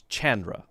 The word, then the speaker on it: Chandra: Hard C sound, so it's Chandra.